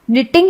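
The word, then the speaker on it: knitting: अब देखिए कि निटिंग में के और दूसरी टी का उच्चारण नहीं हुआ। बोलने में निटिंग ही आया।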